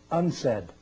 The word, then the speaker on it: UNCED: It is pronounced UNCED, and perhaps indicating the secret agenda of this meeting.